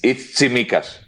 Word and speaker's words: Tsimikas: It's Tsimikas, but I would guess that he will go